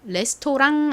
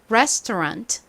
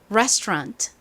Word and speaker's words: restaurant: 레스토랑 아니고 어떻게 발음하죠? 뒷부분이 R A N T잖아요. 랑이 아니라 rant rant 이렇게 발음합니다. 해 볼게요. resturant. Restaurant 좋습니다.이 구문의 의미는 뭔가요?